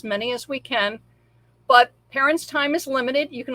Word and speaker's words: Parin: What Parin, is that how you prefer your name to be pronounced? Good, Parin.